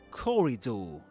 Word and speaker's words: corridor: Corridor. And there we go. This is corridor. Corridor. The stress goes on the first syllable. C. Corridor. And the last beat sounds just like the word do.